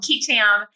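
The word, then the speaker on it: qui tam: are called ketam lawsuits different parts of the country will actually pronounce that differently it's two Latin words so you might have heard of quam or kitam in any event uh here we call them kitam uh and those lawsuits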